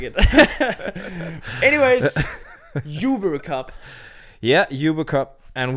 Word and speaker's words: Uber: And her name was Uber, so that's why we say Uber Cup.